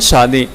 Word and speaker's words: शादी: हैं शादी है, तो कई लोग शादी को शादी कहते हैं, और जो सही प्रोनाउंसिएशन है इसका वो है शादी। तो स और श में काफ़ी ज़्यादा कन्फ्यूज़न होती है लोगों को, तो इसका खासा ख्याल रखें।